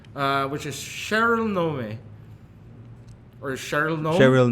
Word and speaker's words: Nome: Which is Cheryl Nome. Or Cheryl Nome? Cheryl Gnome. Okay, there you Like, go. is it spelled like GNON?